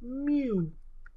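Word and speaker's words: μ: So the population mean is this symbol here, which is pronounced mu.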